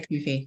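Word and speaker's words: CUFI: You know, like I promote Kufi, or is it Kufi? How do you pronounce it? I say Kufi. Some people say Kufi, Christians United for Israel.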